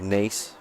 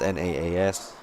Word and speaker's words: Naas: I don't like it, but I always think Nas. It's Nace. Depending on how you say it, but like it just looks like Nas. What, NAS? No, it's Naas. NAAS.